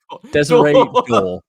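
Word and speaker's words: Désiré Doué: So in this scenario, again, the winger, Duari or Dor, or I don't know how to pronounce his name. Dor. Desiree Door.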